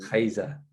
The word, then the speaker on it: Rayssa: say my name, but it's like it's not the R. It's like we have an H in the beginning of the name. Rayssa.